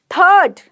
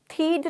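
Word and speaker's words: third: मतलब प्रथम पहला शर्ट मतलब कमीज ठीक है थर्ड तृतीय या तीसरा थर्ड थड नहीं बोल रही थाइड नहीं बोल रही हूं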